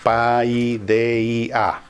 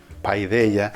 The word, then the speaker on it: Paideia: viendo, y busquen Paideia, se escribe tal como lo estoy diciendo, Paideia, Paideia.